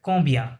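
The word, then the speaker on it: combien: এটা হচ্ছে কম্বিয়া, হ্যাঁ, সিওএম কম, বিআইএন, বিয়া, বিয়া এরকম সাউন্ড করে, কম্বিয়া, কম্বিয়া।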